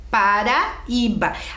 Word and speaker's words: Paraíba: Paraíba. Ah, e tinha que pintar a sílaba tônica, lembram?